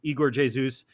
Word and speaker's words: Igor Jesus: Igor Jesus, which we've been saying, it's Igor Jesus. Palencia, who we all call Sergi Palencia, pronounced his name Sergi Palentia, which is a